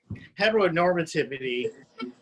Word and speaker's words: heteronormativity: heteronormativity, that's how you pronounce it, it's just such a given in society that people don't even think about it.